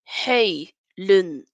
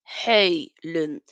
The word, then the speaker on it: Højlund: Hojlund, Hojlund.